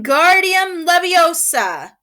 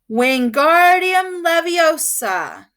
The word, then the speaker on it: Wingardium Leviosa: much more luck when Guardium Leviosa he shouted waving his arms like a windmill you're saying it wrong Harry heard Hermione snapped it's when it's Wingardium Leviosa make the GAR nice and long you do it then